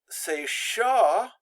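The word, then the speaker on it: ces chats: sha now notice that the sha singular and feminine singular and plural are pronounced the same it's just the demonstrative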